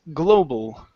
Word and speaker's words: global: The word is global instead of global. It's global. Global.